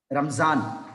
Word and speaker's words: Ramzan: Like a za, one more example, like a Ramzan. Okay, Ramzan. If this dot is there, the pronunciation is a za.